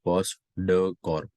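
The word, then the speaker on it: POSDCORB: पॉस D silent होता है, post dough Corp.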